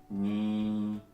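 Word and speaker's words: 日本: Japón se escribe así y se lee Nihon.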